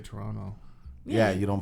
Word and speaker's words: Toronto: we say toronto is we don't pronounce the last t like canadians obviously if